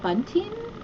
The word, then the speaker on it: bunting: Okay, so this is like a little, I guess, a bunting? What do we call this? A garland. A garland? Yeah. So make this sure you company, pronounce the T though. Bunting.